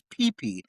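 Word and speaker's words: Pee: But yes, his name is PP, like a private, like the genitalia. I even looked it up. It's spelled P-E-E.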